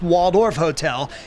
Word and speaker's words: Walled Off Hotel: artist known as Banksy it's called the walled off hotel or pronounced Waldorf Hotel and boasts the quote